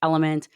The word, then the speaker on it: LMNT: So it's spelled LMNT, but it sounds like Element.